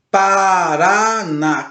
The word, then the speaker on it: Paraná: é acentuada Por exemplo quando eu digo assim a palavra Paraná quando ligo a palavra Paraná a sílaba mais forte que nós falamos aí é o r a o último real Paraná Paraná e o acento agudo ou acento agudo no ar aquele Essa é a